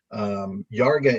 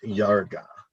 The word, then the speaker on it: Iarga: So Yarga is IARGA. Let me just double check that. But it's pronounced Yarga. Yeah, Yarga, UFO contact from planet Yarga.